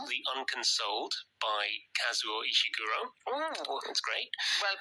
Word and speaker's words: Kazuo Ishiguro: also reading a novel called the unconsoled by kazuo ishiguro oh that's great well pronounced thank you and are you reading anything